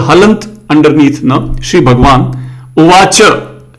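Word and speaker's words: उवाच: Shri Bhagwan Uvacha. Cha has no halant. So we'll say Shri Bhagwan Uvacha.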